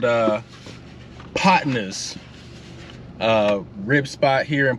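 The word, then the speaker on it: Podnah's: a spot called uh potnas uh rib spot here in Portland Oregon again it's spelled potnas it's not spelled how you think but I'll put it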